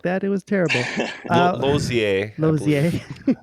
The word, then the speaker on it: Lozier: Lozier. Lozier. Lozier is the French way.